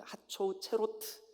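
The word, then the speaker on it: חֲצֹצְרֹת: 하초 체르트, 이 체로트, 이거 발음이 하초우 체로트, 하초우 체로트, 하초우 체로트 써놓으세요, 어디다가.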